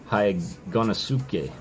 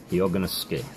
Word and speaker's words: Hyoganosuke: But she came in and she told me I was saying Hyoganosuke, and she was very quick to say, you're saying it wrong. And she helped me out. She sent me a voice message on Discord. Her and her husband taught me how to say it, and it's Hyoganosuke. Hyoganosuke.